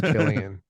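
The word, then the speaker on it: Cillian: uh is what is San is Scottish San Killian Murphy it's I said it right I said it right then wrong okay there we go it's Killian Killian that sounds too violent that's like a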